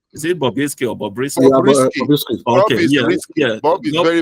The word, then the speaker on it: Bobrisky: Please let me pronounce his name correctly. Is it Bobrisky or Bobrisky? Bobrisky.